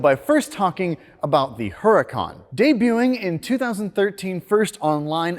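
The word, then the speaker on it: Huracán: on costs and so we got the Lamborghini Huracan or or urakan as it's more properly pronounced this C derives its name from a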